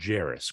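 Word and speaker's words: Jarace: Vegas opener but uh it's pronounced Jairus correct Jairus Walker yep Jairus Walker I was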